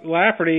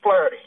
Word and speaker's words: Flaherty: This is, so our superintendent is Colonel Steve Flaherty. Flaherty, that's right.